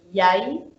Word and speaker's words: yai: And then the Y, that is, for example, there's the word yai, so which means egg. And it's very similar. It's the same way how you pronounce, for example, the color yellow in English.